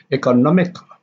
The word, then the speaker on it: economical: Economical, economical, and the stress is on the third syllable, which is economical comes from economy, a noun. The stress of economy is on the second syllable, and then when it changes into an adjective, it becomes economical.